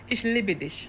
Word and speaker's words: Ich liebe dich: Ich liebe dich. Ich liebe dich. Yes. Like libido, right?